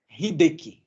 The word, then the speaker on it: Hideki: Só me corrija se pronunciei corretamente seu nome. Hideki. Hideki.